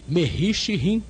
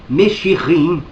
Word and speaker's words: Meshirim: pelo nome hebraico de Mehishirim, ou seja, messianistas. Mais uma vez ele errou a pronúncia daquilo que ele próprio escreveu. A pronúncia correta é Meshirim.